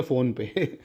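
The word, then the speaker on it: Phnom Penh: फ़ोन पे, मतलब PHNOM थी और स्पेलिंग शायद PENH ऐसे है, देख लेना। फ़ोन पे, फ़ोन पे है, फ़ोन पे, फ़ोन पे करके याद रख लो भाई, फ़ोन पे, ठीक है।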